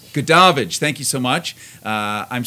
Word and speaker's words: Goodavage: Goodavage.